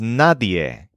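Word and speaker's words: nadie: shouting yay yay yay her name is NAD kind of a combination of ND and Y it's spelled n a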